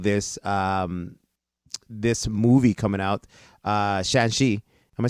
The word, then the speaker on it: Shang-Chi: Now that's why I'm so happy that Marvel is doing this this movie coming out, Shang-Chi. Am I saying it right? Shang-Chi, yeah.